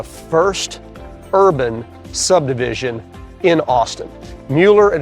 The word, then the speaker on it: Mueller: Mueller, and it's pronounced Mueller, it's not Miller, it's just so you know.